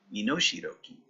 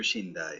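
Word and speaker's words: 身代金: I was pronouncing it wrong there. Minoshiroki. Let's see. Minoshiroki. What is that? Yeah, so they're Shindai, but Minoshiroki.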